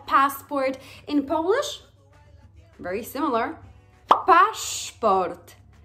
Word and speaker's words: paszport: Paszport. Paszport. What is important is that the letter S changes phonetically and the way you write it actually to the double letter, Polish double letter sz.